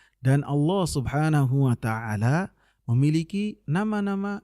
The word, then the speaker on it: Allah: akan kita sebutkan sehingga dibacanya dengan Allah dengan ada tafkhim berat ketika membacanya dan nama ini dalam